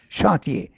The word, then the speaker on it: chantier: left in the chantier, this word has to be pronounced in the French way, you are right, chantier, of the bottomless world, and stolen by the robbers of the deep.